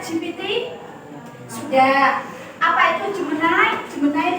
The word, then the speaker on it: Gemini: Jemenai itu adalah gemini. Bacanya jemen ada yang pernah belum?